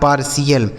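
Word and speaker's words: partial: हो गया आपका सी एल यह लिखा है पार्शियल क्या लिखा मेरे दोस्त पार्शियल ये देखिए इसका सही उच्चारण क्या होगा पार्शियल आगे आई एन आई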